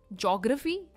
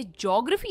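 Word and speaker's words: geography: ज्योग्राफी। यह ज्योग्राफी नहीं है। इसकी प्रोनंसिएशन है जी ओग्राफी। जियोग्राफी एंड नॉट ज्योग्राफी। इट इज जियोग्राफी। ओ पर इसका स्ट्रेस है जियोग्राफी यानी भूगोल।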